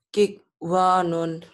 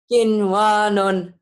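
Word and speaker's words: قِنْوَانٌ: Kikwanun. Kin, kok kik? Kin. Kin, ya sayang. Ayo baca. Kinwanun. Harusnya idgham, tapi tidak dibaca idgham. Ini harus dibaca idhar.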